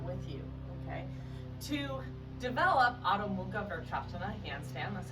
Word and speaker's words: Adho Mukha Vrksasana: To develop Adho Mukha Vrksasana, handstand, that's how you say it in Sanskrit,